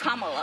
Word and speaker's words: Kamala: Earlier you said Kamala. Way she pronounces her name is Kamala.